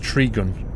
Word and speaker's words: Tregion: Tregion is pronounced Trigun.